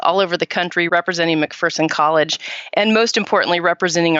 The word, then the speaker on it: McPherson: from Amanda this morning I've been saying it wrong all these years and I feel terrible it's a McPherson not McPherson so I've been corrected but